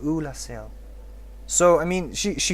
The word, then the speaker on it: Oolacile: up with that pronunciation a lot of people say that it's not pronounced oolasil but if you talk to dusk she specifically says hello i'm dusk of ula so i mean she